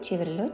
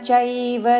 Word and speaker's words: चैव: కర్మ చైవ తదర్థీయం. కర్మ చైవ చేవ కాదు, చ ఐత్వముతో చైవ తదర్థీయం. తదర్థి అని రాకి ధావత్తు పలకకూడదు. ఇక్కడ రాకి మహాప్రాణాక్షము ధావత్తుతో తదర్థీయం. కర్మ చైవ తదర్థీయం సదిత్యేవాభిధీయతే.